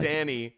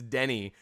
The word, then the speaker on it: Denny: It's not Danny. It's Denny. And I kept thinking his name was Danny and then he just couldn't pronounce it. But it's Denny. Like they're like fooling